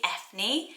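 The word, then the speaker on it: Eithne: It's spelled E-I-T-H-N-E, I think it's Ethne, and then it became Enya, and the name's also linked to Aiden.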